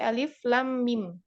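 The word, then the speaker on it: الم: Jadi ini bacanya bukan alif lam bukan, tetapi alif lam mim. Dibaca sesuai dengan huruf aslinya.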